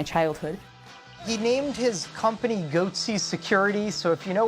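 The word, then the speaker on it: Goatse: and they're getting the goatsy picture they're called goatsy security is that I pronouncing that correctly yeah that's right we're analyzing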